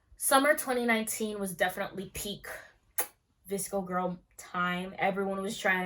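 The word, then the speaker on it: VSCO: The name comes from the photo editing app pronounced Visco, and important outfit ingredients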